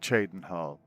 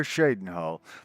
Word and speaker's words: Cheydinhal: The first thing you have to know is nobody knows how to pronounce it. Some people call it Cheydinhal, others call it Shadenhal, and these aren't just people added by mods. In the vanilla game, some call it Cheydinhal, some call it